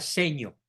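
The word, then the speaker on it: Segno: bien dicho en el pueblito de secno se pronuncia seño seño eh de influencia italiana en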